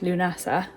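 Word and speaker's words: Lughnasa: Tela and that is Lunasa Luna. They put the pronunciation on the L Luna. So I'm going to start saying it like that.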